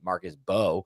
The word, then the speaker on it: Marcus Mbow: You don't pronounce the M. I've learned Marcus Bo.